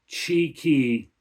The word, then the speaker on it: Txiki: And according to the research I did, that is pronounced Chi-Ki.